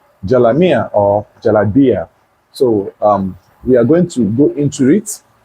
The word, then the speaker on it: Jalabiya: So, Jalabiya is spelled as Jalabiya, Jalabiya. Jalabiya. Then some persons also call it Jalamia, right?